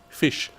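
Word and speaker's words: ghoti: So g h o t i goi he said should be pronounced fish.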